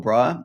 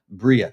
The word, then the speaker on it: Briah: some really interesting stuff here with the old Briar and uh, it's a good chance. Now, back in the day, uh, Rak Michelle was talking about making Brier, which Bria, I should say.